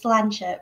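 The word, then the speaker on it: sláinte: learn one word we suggest it should be slanchit which is the same in both languages it's the equivalent of cheers and pronounced lancia and meaning to your health it's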